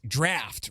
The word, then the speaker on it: draught: It's pronounced draft, right?